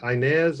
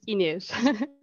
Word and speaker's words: Ines: Is it Inez or Ines? Yes, it is Ines. It's not Ines.